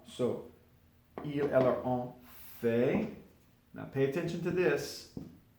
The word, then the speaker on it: fait: But this is all pronounced fait, fait, fait, fait, fait, fait. Je fais, tu fais, il fait, elle fait, on fait.